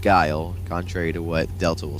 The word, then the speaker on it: Guile: There could be multiple enemies, or you could bring in Mugman as an assist trophy, like Guile from, and yes, it's pronounced Guile, contrary to what Delta will say, but just